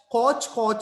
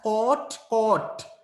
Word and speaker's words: caught: catch caught අල්ලනවා අල්ල ගන්නවා කියන අදහස ගොඩක් අය ප්‍රොනවුන්ස් කරනවා catch coach කියලා ඒ විදිහට ප්‍රොනවුන්ස් කරන්න එපා don't mispronounce these verbs you have to pronounce it as caught කියන sound එක එන්න